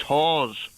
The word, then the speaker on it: Hawes: Do you know my surname is Hawes, as in like a hawthorn.